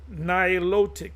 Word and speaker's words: Nilotic: The Nilotic, Nilotic, that's how you pronounce it.